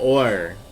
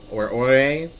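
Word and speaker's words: Orre: And we are in the region of Or Ore. I've heard both pronunciations.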